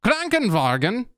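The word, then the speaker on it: Krankenwagen: vogen google translate this hey guys i figured it out thanks google translate cranking vargan yeah okay so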